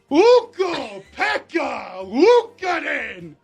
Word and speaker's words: Ukko-Pekka Luukkonen: I just need a pronunciation. Oh, yes, of course. Yeah. Ukko-Pekka Luukkonen.